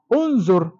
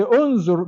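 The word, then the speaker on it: انظر: Unzur. So we say unzur because the second to the last letter has dhamma. So we introduce dhamma to this amzatul wasli here at the beginning.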